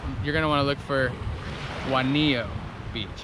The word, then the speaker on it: Juanillo: It's called Juanillo Beach. I was close. Juanillo. I'm gonna call it Winona Beach. But if you're looking it up and you wanna visit here, you're gonna wanna look for Juanillo Beach.